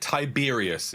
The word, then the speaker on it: Tiberius: And while we're all going at it, Tiberius is how you pronounce it.